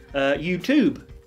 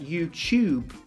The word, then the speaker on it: YouTube: But in British English, we pronounce that YouTube as if it's like a CH.